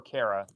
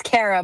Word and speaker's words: Cara: Uh, Cara, is it uh is your name pronounced Cara or Carara? It's Cara, but Gordon says Cara because he's English.